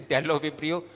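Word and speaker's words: Bdellovibrio: This is delibrio. We always talk about that that B is silent.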